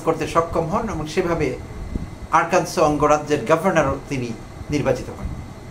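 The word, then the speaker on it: Arkansas: তো তিনি যুক্তরাষ্ট্রের আরকানসো নামে একটা অঙ্গরাজ্য আছে মার্কিন যুক্তরাষ্ট্রে, আরকানসো। তো এই আরকানসো নামটি বানান করতে হয় যেভাবে, তাতে করে তার প্রনাউন্সিয়েশন আসে আরকানসাস, বাট আসলে ইংলিশ প্রনাউন্সিয়েশন হলো আরকানসো।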